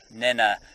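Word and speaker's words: Nhenha: And if it's pronounced basically N-E-N-A, but the H just slightly aspirates it. So it's not quite, but it's halfway between Nena and Nena.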